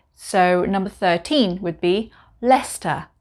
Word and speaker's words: Leicester: with the suffix sister we don't pronounce the c so number 13 would be leicester leicester not lechester like the famous chinatown